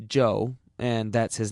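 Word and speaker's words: Chu: is amazingly Cooperative Joe spell it c h u if you want to be exotic it's still pronounced Joe and that's his name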